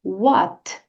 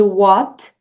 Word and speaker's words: what: repete com a teacher What muito bem perceba que essa letra T aqui de what você pode pronunciar suavemente não diga What diga What repete mais uma vez What